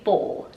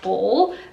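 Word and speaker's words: boule: The first word is a bowl, not to be confused with a mixing bowl, but a bowl.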